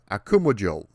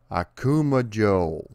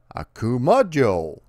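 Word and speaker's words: Akumajō: goat with two buttholes so let's take a moment to learn the proper pronunciation akuma joe akumojo akuma joe akuma joe and now i am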